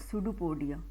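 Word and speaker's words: pseudopodia: अब वो food vacuole को अंदर की तरफ ले रहा है with the help of सूडोपोडिया. ये क्या है, सूडो, P silent. Okay, S से स्टार्ट होता है, सूडोपोडिया.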